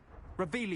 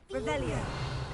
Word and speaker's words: Revelio: Revelius! You're saying it wrong! Ugh, Revelio!